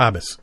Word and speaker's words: haabjas: The J is silent? Habas.